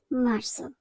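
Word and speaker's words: marzo: কিন্তু এরপর আছে মার্সো মার্সোর সবার শেষের দিকে যদি আমরা বানানটি দেখি তাহলে দেখব জেতা আছে জেতার উচ্চারণ সাধারণত জা এভাবে উচ্চারণ হয় কিন্তু এখানে জা এর মধ্যে উচ্চারণ হবে না হবে দন্ত স এর মতো আমরা উচ্চারণ করব মার্স এরপর আছে মাজ মাজ্য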